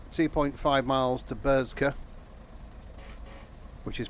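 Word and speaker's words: Burscough: Right, 2.5 miles to Bursca, which is pronounced. The next station stop is Bursca Junction.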